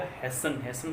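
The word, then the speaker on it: hasten: और ये हो जाएगा हैसन का मतलब होता है जल्दबाजी करना।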